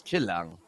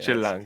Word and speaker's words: Chill Lang: So if there's any team, I feel like going up against and by the way, it's how you pronounce it, is Chilang. Yeah, Chill lang.